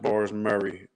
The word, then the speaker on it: Bars Murre: So, it looks like Bars Murray, but it's pronounced Bars Murray.